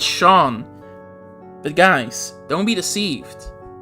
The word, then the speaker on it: Seam: Oh boy, it's Shawn. But guys, don't be deceived. You pronounce his name Oh, uh, you pronounce their name as Shawn, but their name is actually their name is spelled like Seam.